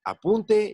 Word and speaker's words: apunte: La sílaba tónica puede variar según el significado de la palabra. Por ejemplo, apunte y apunté. La primera es un sustantivo y se refiere a un escrito. La segunda es un verbo conjugado en primera persona del singular del pretérito.